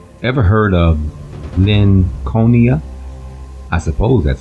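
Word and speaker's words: Linconia: ever heard of Lynn conia I suppose that's how you would pronounce it because it would be in juxtaposition with the name Lincoln IA was the name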